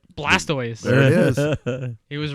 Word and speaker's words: Blastoise: How do you pronounce that? Blastoise.